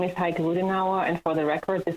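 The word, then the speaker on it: Heike Ruedenauer: and may begin good afternoon my name is heike ludinawa and for the record this is spelled h-e-i-k-e r-u-e-d-e-n-a-u-e-r I work for adsb in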